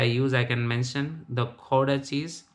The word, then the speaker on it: Gouda: I can mention the Gouda cheese. G is pronounced as Kho, Kha and Ha, like hybrid of.